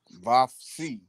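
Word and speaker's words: Vophsi: Vavsi, It's prop now, Nakbi. not I thought B. it was prophet. Not B. Hidden. Hidden. Vavsi, how we say this thing? Vapsi. Yep, that's it.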